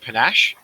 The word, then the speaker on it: panache: cool i might go with um is it panache for traits is that how it's pronounced yes that's correct uh and empathy panache